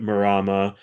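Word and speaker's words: Mārama: Um, so, uh, I really enjoyed Morama. Am I pronouncing that right? I think you can the line above the first a, all that means is extend a vowel.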